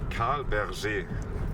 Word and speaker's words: Carl Bergé: Carl Bergé, like a French version.